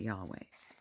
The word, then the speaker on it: Yahweh: This is how you pronounce it. Inhale, exhale. Life. Inhale, exhale. Yahweh. Breath of life.